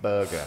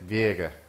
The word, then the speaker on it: Birger: say his name properly, I always call him Berger and he hates it. Birger.